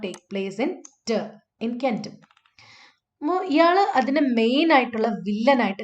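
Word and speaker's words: centum: Okay, so the stress is actually in kentum. Stress is on the second syllable. ഇവിടെയാണ് stress വരുന്നത്. കെൻറ്റം ടം എന്ന് പറയുന്നതിലാണ് stress വരുന്നത്. So the stress is on the second syllable, tum.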